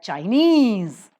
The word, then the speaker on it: Chinese: Earth that stress shifts China the first syllable is accented but Chinese the second syllable is